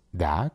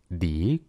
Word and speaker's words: the: En esta parte, si observas bien, la palabra da tiene dos pronunciaciones. La primera es da cuando su siguiente palabra inicia con una consonante. Y la segunda es Di cuando su siguiente palabra inicia con una vocal.